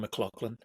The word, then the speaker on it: McLaughlin: I think is Colin McLaughlin. Or McLachlan. He says it Colin McLaughlin, so I'll say it the way that Colin pronounces his name.